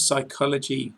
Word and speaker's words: psychology: In the words psychology, psychic and psychiatry, you must never sound the P.